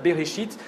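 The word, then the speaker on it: בראשית: Le titre hébreu du livre, qu'on prononce Bereshit, veut dire simplement au commencement, qui se sert des 2 premiers mots du livre.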